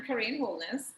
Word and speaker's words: Karaine Smith-Holness: of that introduce myself um but i am korean homeless affectionately known as i am a hair